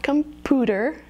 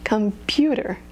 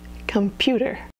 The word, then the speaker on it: computer: is the diphthong you Union another very common mispronunciation is computer so it's not computer remember it's the diphthong computer computer so we've had a a I I we